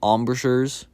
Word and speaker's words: embrasures: I almost called them embrasures because I have no idea how to say their name. But embrasures is apparently how you say them. I did not know that.